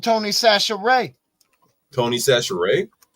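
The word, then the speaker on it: Chachere's: That says Cashiers. Huh? It says Cashiers. No, that's Sachet, man. You got to say it like you a Cajun.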